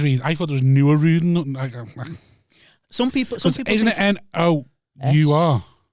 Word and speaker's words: Nooruddean: One of the weird pronunciations that I get a lot is they think it rhymes with meridian. I said Nooruddean.